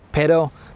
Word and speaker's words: pero: And it is quite important that you do pronounce that double R sound, especially with words like pero, but, or perro, which is dog. So there is quite a difference between the two.